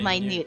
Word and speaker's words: minute: many yes but but in this instance it's pronounced minute it's like the difference between red and red